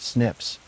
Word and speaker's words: SNP: These algorithms compare hundreds of thousands of single nucleotide polymorphisms or SNPs pronounced snips.